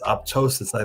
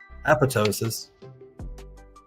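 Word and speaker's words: apoptosis: p o p t o s i s oposisi think I'm saying it right apotosis apotosis of cancer cells I think I'm pronouncing it right then but that actually explains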